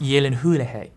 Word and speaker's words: Gyllenhaal: It's pronounced Gyllenhaal, Gyllenhaal, Gyllenhaal, Gyllenhaal, Gyllenhaal, Gyllenhaal, Gyllenhaal, Gyllenhaal, Gyllenhaal,